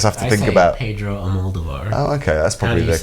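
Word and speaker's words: Almodóvar: Well, how do you say the last name? Almodovar, and I say Almodovar. I say it the way Madonna pronounces it.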